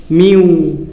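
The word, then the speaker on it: μ: MU पढ़ते हैं इसको, लेकिन प्रोनाउंस कैसे करोगे, जैसे बिल्ली बोलती है ना म्यू, तो वैसे म्यू पढ़ना है आपको, म्यू।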